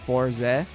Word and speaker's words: Forz: comment writer Forz and it's not pronounced for is like 4Z because um it's supposed to be a pun on 40 like 40 because it was made during the 40th anniversary of the whole franchise period.